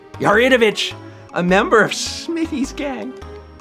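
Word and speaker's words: Yaridovich: I am I always when I was a kid I pronounced at yardovich but I now realize that there's an eye in there yaritovic a member of smithy's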